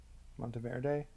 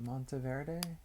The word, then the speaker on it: Monteverde: Monteverde in Costa Rica. How do you pronounce that? Monteverde? That's how you would pronounce it in Italian. I don't know how you would pronounce it in Spanish.